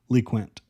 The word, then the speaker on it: LeQuint: And yes, Chad Morton made it clear that that's how you pronounce the name. He thought it was LeQuint as well, but he learned it's LeQuint Allen.